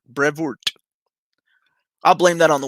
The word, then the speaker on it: Brevoort: would be asking him on the show Tom Brevard Brevoort I'll blame that on the one I never knew how to pronounce his name coined the name omnibus so